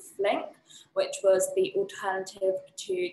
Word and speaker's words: Flink: So it's kind of handy as well how it kind of rhymes with drink.